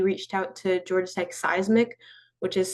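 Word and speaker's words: CEISMC: And so like you said, we reached out to Georgia Tech Seismic, which is spelled C E I S N C.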